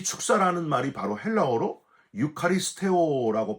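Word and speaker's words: εὐχαριστέω: 이 축사라는 말이 바로 헬라어로 유카리스테오라고 발음해요.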